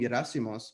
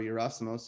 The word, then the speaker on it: Yerasimos: And when I took ownership of my name, Yerasimos, or Yerasimos, if you're going to pronounce it that way, so much changed in my life, you know?